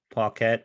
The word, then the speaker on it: Paquette: But I think Renee Paquette. I don't know how to. No, I think you said actually right.